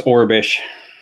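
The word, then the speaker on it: Aurebesh: dude, because I can never remember how to pronounce. It's Orabesh.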